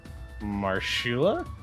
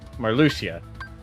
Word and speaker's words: Marluxia: Marshula? Marluxia? Marluxia. There's a sh on the X. Sounds about right, actually. The whole organization uses all the pronunciations of the letter X.